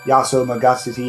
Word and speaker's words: Yaso Magatsuhi: If you don't do that, then basically you can't attack the one guy that, you know, the Yaso Magatsuhi or whatever his name was.